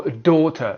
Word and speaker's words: daughter: And there is also daughter, but it's a noun.